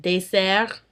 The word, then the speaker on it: dessert: However, in words very similar to that, where there are two S's, an S is pronounced as an S. Like in poisson et dessert.